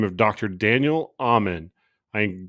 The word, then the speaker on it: Amen: name of dr daniel amen i say that spell that for you a-m-e-n like amen at the end of a prayer which you should pray